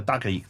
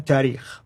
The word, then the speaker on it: tarikh: And then the last genre, the tarikh. How do you say it again? Tarikh.